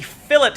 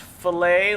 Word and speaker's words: fillet: going to introduce the philip command a lot of people think that it's pronounced filet like fillet of fish because that is how it's spelled but it's not it's pronounced philip because it's well it's